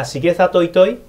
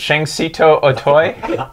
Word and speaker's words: Shigesato Itoi: Shigesato Itoi, and myself are very happy about this as well. So wait a second, you don't pronounce it Shang-Sito Otoy like I do?